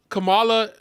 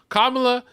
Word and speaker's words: Kamala: once okay you know Kamala Kamala kamla sorry I we've been saying her name wrong kamla when she gets into